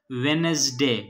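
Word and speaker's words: Wednesday: इस तरह व्हीकल में एच साइलेंट है. वेनसडे, वेनसडे में डी साइलेंट है.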